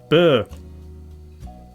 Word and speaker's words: Bø: It is pronounced bow? No, that's just bow. I'm looking for this. From Old Norse meaning farm. Okay. I want to hear. I want to hear its pronunciation. Pronunciation. How to pronounce Bø. Burr. Bø.